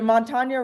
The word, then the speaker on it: Montanya: name of your brand uh for sure so Montana rum has always been a Colorado Rum company